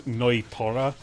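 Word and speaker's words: Nnoitra: Or I still can't believe the English pronunciation of Neutra is Noitora. I'm not calling him that. Noitora. I'm not like adding Noita. 2 more syllables. Fuck you. It's Neutra.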